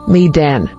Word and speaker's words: Medan: Sh 34 Maiden origin Hebrew Medan meaning contention pronunciation Menan Bible verse Genesis 252 ESV she bore him